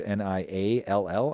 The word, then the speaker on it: Niall: It's spelled weird, Niall, I believe. I think people say Neil, but in my head I always say Niall because it's spelled so strangely.